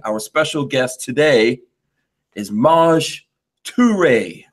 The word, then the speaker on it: Maj Toure: He just taught me how to say Maj Toure, because that's the right way to say it, right?